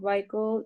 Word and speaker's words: vehicle: stop safely if the vehicle suddenly slows down or stops. Okay, wait, Joali. Vehicle. Vehicle. The pronunciation is vehicle.